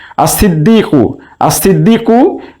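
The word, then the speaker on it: الصديق: আর সিদ্দিকু এর আলিফ লামের লাম উচ্চারণ হচ্ছে না, তাই আমরা এটাকে বলতে পারি আল হুরুফুস শামসিয়া।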